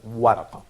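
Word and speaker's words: ورقة: That's called waraqa. So can you pronounce it again?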